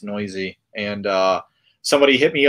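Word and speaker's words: Neuse: sheldon noisy uh his his name is spelled like noose but it's pronounced noisy and uh somebody hit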